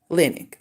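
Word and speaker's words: Linek: Emma linick I think it's it's uh Clinic is spelled l-i-n-e-k linick if you look it up it's all on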